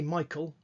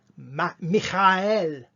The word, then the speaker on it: Michael: or Daniel, and because we say Michael, Daniel, and we've got that sound instead of saying it Michael, which is how they say it in other parts of the world, by the way, Michael.